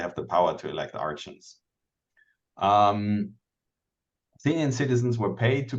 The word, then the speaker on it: archon: time, if you were an administrator, like an archon, how did you pronounce that? Archon.